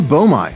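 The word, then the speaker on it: boehmei: is the broy pelma bomi sometimes that's pronounced bam depends on who you are they have a vibrant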